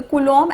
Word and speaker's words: coulomb: of charge is coulomb c-o-u-l-o-m-b so when you pronounce it b is silent it is coulomb okay so this unit